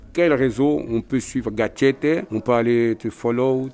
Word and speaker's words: Gatchete: Gatchete, G-A-T-C-H-E-T-E. Gatchete. Il y en a un seul, c'est moi. Bien prononcé, avec l'accent du Sud. Gatchete, c'est important. Voilà.